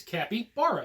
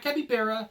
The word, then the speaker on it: capybara: we're going to go over is how you pronounce the word Kappy bar it's real simple it's Kappy bar it's not capy Bara it's not chupacabra and it's not Kappa bear when people call them Kappa Bears I think